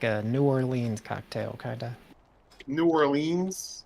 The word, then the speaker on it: New Orleans: New Orleans? Norland. That's how you pronounce it.